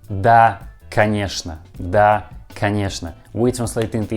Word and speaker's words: конечно: Pay attention that this word конечно we write with two letters O, but we pronounce all these two letters like a. Конечно, not конечно. We pronounce like конечно. And also this word has a letter ch, but we pronounce this letter like sh.